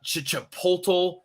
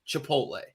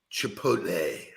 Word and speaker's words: chipotle: of pepper but it is the second most mispronounced word word in the united states chipotle uh chicha portal like all of these it's really simple guys chipotle chipotle i like it okay now we're gonna get